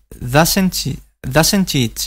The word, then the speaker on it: doesn't it: El acento recae aquí, en el auxiliar. Y el pronombre personal it suena débil. Entonces, lo que hacen los ingleses es juntar estas dos palabras y pronunciarlas a la vez. Doesn't it? Doesn't it? Si estuviéramos en América, sería doesn't it? Doesn't it? Con una especie de E.